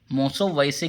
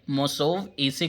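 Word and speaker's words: मोसोवएसे: मोसोव ऐसे, देखिए ये शब्द है मृषोपदेश, मृषा उपदेश, मृषोपदेश की तरह ही इसे प्रोनाउंस करेंगे मोसोव ऐसे। मोसोव वैसे की बजाय मोसोव ऐसे करेंगे तो ज़्यादा शुद्ध रहेगा।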